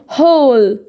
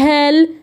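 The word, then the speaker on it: hall: طيب حرف الايه يا شباب لو بعده ال بنطقه زي الاو برضو. زي هنا هول كده اهي زي زي الاو. خلاص هول قاع او صاله او كده. طيب سمول اهو بنطقها او. ليه ما قلتش سمال؟ ما قلتش سمال، ما قلتش هال ايه يا باشا؟ احنا واخدين والله قاعده الدكتوره قالت لنا ان الايه بعدها ال تنطق او، فانا هاجي اقراها اقول هول.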